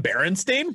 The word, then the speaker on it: Berenstain: It's spelled with an A. It's an A, not an E. I remember growing up and seeing it with an E all my life, and it was always Berenstain Bears.